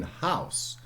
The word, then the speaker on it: house: was pronounced once in house final e is an etymological has never been pronounced okay it's just put there as a sign of length okay uh uh in